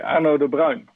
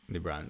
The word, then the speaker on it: Arno de Bruijn: Okay, Arno De Bruijn. De Bruijn.